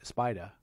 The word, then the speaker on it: spider: 4c the 33 star spider spider which means is italian for convertible convertible is it italian yeah except the germans like to spell it with s-p-y-d-e-r which is incorrect by the way it's s-p-i-d-e-r they just